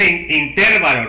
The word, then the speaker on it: intervalo: Ok, no es intervalo, lo que es intervalo. Si fuera intervalo tenía que poner acento en la I. Muchos de ustedes tienen ese error, no es intervalo, es intervalo, ¿ok?